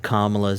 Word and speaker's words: Kamala: It's Kamala. like comma, like a comma.